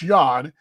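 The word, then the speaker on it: Jan: see it uh uh it's spelled like jam but it's not jen it's yawn yanny john hernandez from puerto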